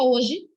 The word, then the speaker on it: hoje: H hoje. Vocês já ouviram a professora chegando na sala? Bom dia, H hoje nós vamos. Não, não tem isso. Porque na palavra o H é mudo, ele não tem som.